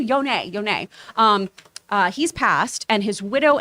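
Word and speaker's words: Ehud Yonay: Ehud Yond, I believe is how you say his name. Yone.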